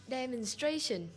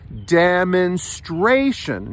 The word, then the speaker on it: demonstration: to pronounce this word demonstration demonstration this word has four syllables and the third syllable gets stressed and when I say stress it's like a higher note demonstration now you have to